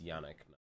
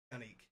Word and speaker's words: Yannick: Yannick Nezet-Seguin and it's Yannick. Yannick. Really? Yes. I actually looked up the pronunciation.